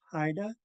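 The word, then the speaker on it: Xaayda: could see right here underline x a a y d a so that's pronounce Haida um so this is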